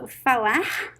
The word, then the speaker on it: falar: pronunciations it can be it can sounds like the american h i'm going to give you one word fala okay the verb falar falar means to speak it as it has the r at the end so fawa so this is the